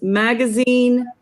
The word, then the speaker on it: magazine: But this is magazine. How do you say it? Een, yes.